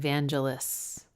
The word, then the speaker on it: Vangelis: I think I thought it was Vangelis and then someone said Vangelis and I was like, well, it must be that. It is. Oh, no. Well, I don't know. Hard G.